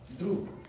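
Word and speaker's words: друг: It's pronounced droop.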